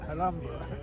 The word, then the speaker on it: Alhambra: How would you pronounce it? Alhambra.